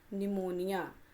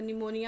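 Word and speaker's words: pneumonia: निमोनिया। तो, यह कौन सी बीमारी है? निमोनिया बीमारी है। सबसे पहले तो स्पेलिंग देखेंगे। पी से स्टार्ट हो रहा है।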